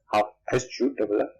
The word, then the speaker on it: Hough: It is pronounced as Hough, Hough.